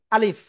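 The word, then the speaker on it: alif: এমন বলব তাই না তো একসাথে যদি বলি আলিফ তো কিভাবে উচ্চারণ করতে হবে আমার মুখের দিকে খেয়াল করবেন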